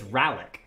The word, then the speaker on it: Ralyk: Ralyk, the A is pronounced like apple, so it's Ralyk.